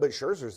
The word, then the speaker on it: Scherzer: But Scherzer's the best pitcher on that team. How do you pronounce his name?